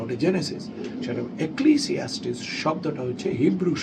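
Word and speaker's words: Genesis: যেমন আমাদের একটা হাসপাতাল আছে, হাসপাতালটার নাম জেনেসিস, খুব একটা ডিফিকাল্ট না, কিন্তু একে অনেকে বলে গণেশ হাসপাতাল, জিনিয়াস হসপিটাল, জেনেটিক্স হসপিটাল। তখন আরেকজন কারেক্ট করবে ওটা জেনেটিক্স না, ওটা জেনেসিস।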